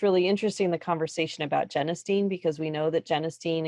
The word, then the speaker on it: genistein: I learned how to pronounce genistein. I always said genistein. Yes. Nobody ever told me. So genistein, I will try to remember that.